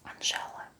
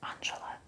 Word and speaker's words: Angela: pretty number two is Angela it's like English name Angela and in Russia we pronounce it Angela people in Russia don't